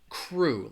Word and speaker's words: crew: it's that vowel sound crew has that it's just more like an ooh ooh sound crew let me write it